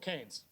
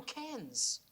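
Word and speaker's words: Cairns: in Australia place called can's can's far North Queensland oh can's no it's can can can how do you spell it c a i i n s it's is Ken Ken yeah all right who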